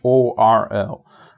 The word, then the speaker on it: whorl: It's whorl, right? Whorl. I guess it's kind of like whirl, but whorl for some reason.